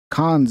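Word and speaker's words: Cannes: It's a diary of somebody's uh trip to cons, you know, the film festival. Canes or cons? I think it's called cons. The right right way to say it.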